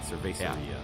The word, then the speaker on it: cervecería: Essentially how you'd say it, cervecería.